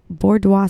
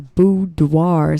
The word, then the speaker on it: boudoir: A boudoir session is, I said it wrong again. A boudoir session is a photography